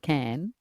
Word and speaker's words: Khan: Well, can does it? Some people call it can. Particularly if you're trying to rhyme with van.